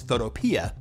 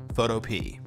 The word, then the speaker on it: Photopea: Some people mispronounce it as Photopea, but the developer says it's actually pronounced Photopea.